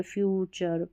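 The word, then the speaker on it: future: भी रिपीट होता है इसको टर नहीं पढ़ना है टी यू आर ई को चर पढ़ना है चर जैसे नेचर फ्यूचर पिक्चर कल्चर ऐसा तो टी यू आर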